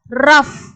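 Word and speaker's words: rough: வந்து எஃப் உச்சரிப்பு வந்து கொடுப்போம், அதாவது இஃப் அப்படின்ற உச்சரிப்பு. எக்ஸாம்பிள் பாருங்க, இது எப்படி படிப்போம்னா இர் இஃப் ரஃப்.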